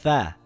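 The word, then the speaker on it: ث: In English, it is similar to the TH in the word three or the word think or math.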